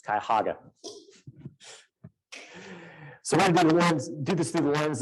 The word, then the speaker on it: Cuyahoga: development disabilities so they've I didn't know how to pronounce that County's name until I worked with them it's Cuyahoga do this through the